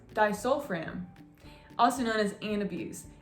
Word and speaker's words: disulfiram: the next medication we're gonna go over is pronounced disulfiram also known as an abuse if you guys